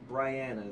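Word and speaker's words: Brianna: hurdler yeah R yeah Bri Bri Bri Bri Briana is how you say it she says it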